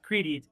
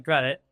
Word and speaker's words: Kredete: So, the company it it looks like should be pronounced credi and I've seen on some of your videos it's definitely credit.